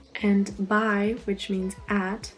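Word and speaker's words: bei: it's pronounced e and by which means at it's spelled b e i but it's pronounced by furthermore there are four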